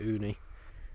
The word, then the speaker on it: Ooni: the idea of cooking a pizza outside the uni pizza oven though and that's how you pronounce it uni is over 200 pounds so i thought we'd